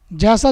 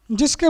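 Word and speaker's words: Janus: उसमें एक कथा है जिसके मुताबिक थे जैंस एक देवता था हिंदी में शायद उनको जान उस बोल सकते हैं जिसका स्पेलिंग है जे एन यू एस तक देवता थे जानूस जिनके नाम पर जनवरी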